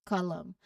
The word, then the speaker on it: column: And the last word is column. So the silent letter is N.